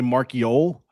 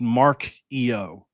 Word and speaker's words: Marchiol: Yeah, a lot of people want to say Marchiol, but if you actually go back and look at Nico's X account in 2021, he posted it's pronounced Mark EO. So Marchio. yeah, it's just like an Italian.